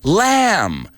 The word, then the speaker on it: lamb: Make a list of these words with silent B's, like dumb, lamb, tomb, and practice saying them so you never make that mistake again, and you never pronounce that B, or you never call